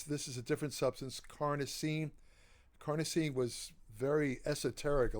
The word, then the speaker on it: carnosine: form it's called carnosine now the reason I I uh concentrate on that pronunciation pronunciation is because carnosine can be is often confused with carnitine it's called ELC carnosine not lcarnitine lcarnitine is something else lcarnitine is an